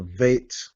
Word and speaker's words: Vet: They will pronounce this as a B, but if they didn't have the dot, they will pronounce it as a V.